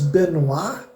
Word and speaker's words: Benoit: Na realidade, a pronúncia do nome dele seria Chris Benoit, né? Porque ele é um canadense, provavelmente o sobrenome tem origem francesa, mas eu vou falar Benoit porque é um pouco mais fácil, né? De pronunciar.